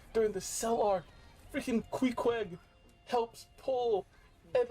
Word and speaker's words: Queequeg: So, Queequeg is how I pronounce her name.